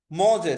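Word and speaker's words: mangé: মজে সেকেন্ড যেটা আছে দেখেন, এটা উচ্চারণটা হচ্ছে মজে, মানে হচ্ছে খেয়েছে।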